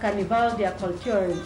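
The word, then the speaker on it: Karneval der Kulturen: some cultures characterize the bin Carnival of cultures pronounced Carnival their culturing in German it is a yearly Street Celebration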